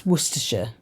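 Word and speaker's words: Worcestershire: But it's Worersha. I was some people call it Washer Sister Sauce.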